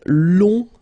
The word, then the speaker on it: long: So keep in mind that long, in that case, you will have to add this U and then E. Okay, so long, remember you don't pronounce the final G, will become longue.